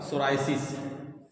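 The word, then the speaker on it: psoriasis: दवा लिखो पॉइंटमेंट फॉर सोरायसिस पॉइंटमेंट फॉर सोरायसिस सोरायसिस पी से शुरू होगा पी एस ओ पी एस ओ आर आई एस आई एस सोरायसिस और सोरायसिस नहीं कहेंगे सोरायसिस कहेंगे पी साइलेंट रहेगा इसमें ठीक है पी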